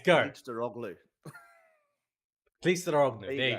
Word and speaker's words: Kılıçdaroğlu: not brave enough to try to I've spent pronounce. a week learning how to do it. Okay, It's go. Kılıçdaroğlu.